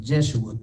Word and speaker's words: Jeshua: name is called jesus but when you read ezra the second chapter is pronounced jeshua that's where they get